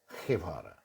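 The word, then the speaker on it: Guevara: যে বাংলায় যখন গেভারা বলতে পারি, জি এর পর যদি ই থাকে, মানে ইংরেজিতে যেটা ই, তাহলে সেই জি এর উচ্চারণ হ হয়ে যায়। বুঝতে পেরেছেন? ক্যাস্টালিয়ান স্প্যানিশে পরিষ্কার হ, ক্যাটালানিয়ানে খ, খেভারা। ওই জন্য জি এর আওয়াজ, গ আওয়াজটাকে রিটেন করার জন্য একটা ইউ দেয়া হয়েছে, ওটা গুয়ে নয়, গে।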